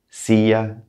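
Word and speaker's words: silla: means woman casa house sia chair see the double else has a y sound in english our nouns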